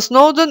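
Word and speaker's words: Snowdon: сноудон она в уэльсе слово сноудон - это собственное название и оно естественно никак не переводится так как иже как Обратите внимание ударение на первый слог едем дальше язык Обратите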